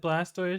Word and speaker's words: Blastoise: have you heard that blastoise should be pronounced like tortoise no no no